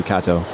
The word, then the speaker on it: Kato: friend before we see Kato. Here is their merch store. Let's check it out. Now, his name's pronounced Kato, not Keto, right?